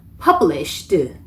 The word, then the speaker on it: published: published를 보면 뒤에 ed가 들어가 있는데 이 ed 발음은 너무 세게 하셔도 안 되고 안 하셔도 안 돼요. 그래서 publish 까지만 하면 안 한 거고 published 하면 너무 세게 한 거죠. 바람 소리로 마무리를 해주셔야 합니다. published 이렇게 발음이 들어가야 돼요.